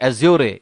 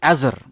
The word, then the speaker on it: Azure: It's not Azure. It's Azure. Someone told me Actually, my son, he told me, hey, old man, it's not Azure, it's Azure. It took me 5 minutes to have the right pronunciation.